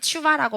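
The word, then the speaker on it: תשובה: 하느냐에 따라서 달라지는 건데 이 테슈바는 추바라고 발음을 하는 게 원래는 더 명확한 발음이라고 합니다.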